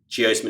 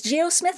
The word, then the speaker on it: geosmin: hits, all of that geosmin is made volatile, and then we can smell it. And that is the smell of petrichor. That's great. Is geosmith, how do you spell it? Geosmin, geosmin.